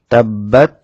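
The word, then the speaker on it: تَبَّتْ: তাব্বাত ইয়াদা আবিলাহ তাব্বাত এখানে স্বাভাবিক উচ্চারণ তাব্বাত বার মধ্যে তাসদিদ হওয়ার কারণে বা দুইবার উচ্চারণ হবে এবং তাসদিদ যুক্ত হরফ উচ্চারণ করার জন্য একটু সময় নেবে তাশদিদ যুক্ত হরফ যেহেতু দুইবার উচ্চারণ হয় সে কারণে একটু সময় নেবে তাব্বাত এভাবে উচ্চারণ করতে হবে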